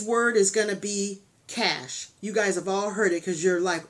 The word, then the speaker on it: cache: Katz it's spelt like it's supposed to be pronounced cash a but it's cash so um yeah but anyway we're going to